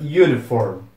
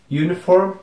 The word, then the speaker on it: uniform: pronome é University University outro exemplo disso é na palavra uniform uniform que significa uniforme também tem um som de Y para falar a verdade